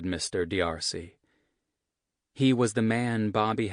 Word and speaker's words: D'Arcy: D'Arcy?" Hilliard said the master's name in 3 distinct syllables like letters, D.R.C.